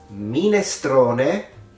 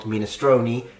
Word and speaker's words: minestrone: And this connects to our last two words, minestrone, not minestroni, and salame, not salami.